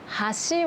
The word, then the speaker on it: 橋: という風に日本語はピッチ同じ発音でもアクセントが違うと意味が変わるものというのがいくつかあります。有名なもので言うと箸と橋箸は箸で